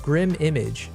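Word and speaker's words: Grim1Mage: You said pronounced Grim Image.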